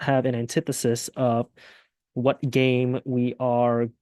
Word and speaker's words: antithesis: point out before you continue the word is pronounced antithesis as in the pronunciation over here so could